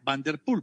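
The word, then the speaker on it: Van der Poel: el señor jorge barrios que se pronuncia vanderpool pan tienen toda la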